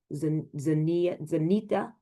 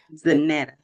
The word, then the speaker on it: Zanetta: So and Zania Zenita, I'm sure I said it wrong. I apologize. Zanetta. Zanetta.